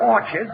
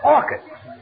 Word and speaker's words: orchids: some Orchards it's not Orchards it's orchids the CH is pronounced like K oh what movie did